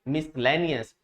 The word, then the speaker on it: miscellaneous: तो आपको याद रखना है कि एस के बाद जब सी आता है तो ये क्या रहता है? साइलेंट लेटर रहता है।